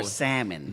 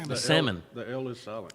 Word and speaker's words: salmon: how do you pronounce salmon is it sad no salmon the L is silent yeah salmon once the LSAT why